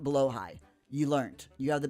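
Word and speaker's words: Blåhaj: Jeeves, it's pronounced blow high. You learned. You have the biggest one in the toddler's room. You gotta love. Okay, blow high.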